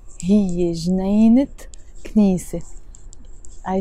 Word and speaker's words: جنينة: So the word جنينة on its own doesn't have a تمر. Sorry, it has a تمر بوتا, but we don't pronounce it. We just say جنينة.